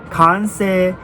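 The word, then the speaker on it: Kansei: it's called conse wheels not que se wheels not COO seiki say it's concert wheels come say con say in Japanese meaning completed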